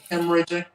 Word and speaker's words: hemorrhagic: Hemorrhagic.